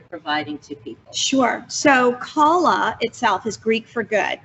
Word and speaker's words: Kala: that it's technically pronounced Kala. Yeah, With the Kala. accent on the second A. It's so true. And so we, though, are lucky if people pronounce it Kala versus Kayla, Kala.